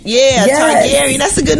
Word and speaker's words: Targaryen: Targaryen. Yeah, yes. Targaryen. That's a good name for you, Gary. Targaryen. Yeah. It follows the House of Targaryen.